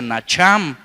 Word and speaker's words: nacham: Y mire, me encontré con que ahí en el original griego la palabra arrepentimiento, que se pronuncia nacham, significa cambiar de forma.